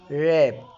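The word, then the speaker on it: wrap: خطا ريست اللي هو المعصم بتاع اليد را راب اللي هو يغلف برضو حرف الك لو ج وراه حرف الان الك ما بتنطق زي كلمه ن ن يعني يعرف نايف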